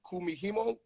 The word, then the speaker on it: kumihimo: it's the experience now you learn the beaded kumihimo method is that how i say that right